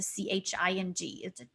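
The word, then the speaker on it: Qing: My first name, as you see, it spells Q-I-N-G, and the letter Q pronounces C-H. So when you say my name, just pretend it's spelled as if it's a C-H-I-N-G.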